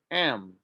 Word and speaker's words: I'm: to cook next box i am is pronounced m he is his she